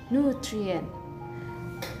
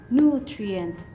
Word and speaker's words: nutrient: The stress is located on the second syllable and the meaning of this word is nutrisi. The third word is nutrient. The phonetic sound is nutrient.